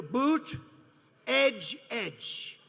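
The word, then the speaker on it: Buttigieg: touch and they said here's what you do boot edge edge say edge like the edge of a building edge edge Buddha judge Alfred Newman you got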